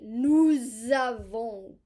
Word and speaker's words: nous avons: Normally we do not pronounce the S, but we will because we have a vowel. We'll pronounce it like a Z. Nous avons, we have.